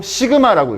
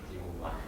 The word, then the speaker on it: 시그마: 아 강주 있으면 바로 따라했는데 시그마 지그마 지그마 아 뻥이에요 이거는. 여러분 이거 뻥입니다. 이거이 지금마 뻥이에요. 제가 약간 다 지로 발음하는 법을 있어 가지고 어 뻥이고요. 이거는 얼토엉덩터하는 말이고요. 시그마라고 읽으시면 됩니다.